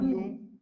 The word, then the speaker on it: nous: So the S is never pronounced, right? It is nu, it is vous, it is il, and it is L.